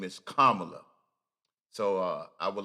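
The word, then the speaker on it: Kamala: to pronounce it is say comma you know like a comma in a s sentence and then just say comma her name is kamla so uh I would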